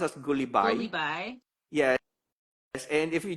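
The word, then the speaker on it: Gulibay: It's pronounced as Goullibby.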